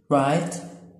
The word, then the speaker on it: write: اما الافعال غير منتظمة زي come تبقى came وto ثابتة، يبقى come to الماضي منها came to، write wrote طبعا الW ما بتتنطقش، write wrote come to came to give up gave up give up gave up.